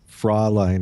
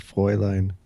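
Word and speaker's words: Fräulein: he also said Heil he says Fraulein instead of foiling I mean Heil Hitler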